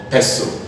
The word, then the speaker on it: pestle: called Casa de vie est Belle is called pestle hu stlp is called hustle wre SDLP is